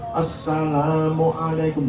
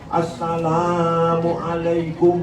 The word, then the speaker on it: Assalamualaikum: Seperti salam ya jangan panjang. Assalamualaikum, jangan Assalamualaikum. Nah, kadang-kadang difase-fasekan malah salah.